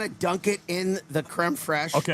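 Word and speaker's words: crème fraîche: You get 10 chicken nuggets, the creme fresh, is that how you say it?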